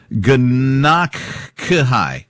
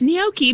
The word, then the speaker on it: gnocchi: So, pronounced what you say, gnocchi? Gnocchi. Gnocchi. Yeah, so the G is sort of silent.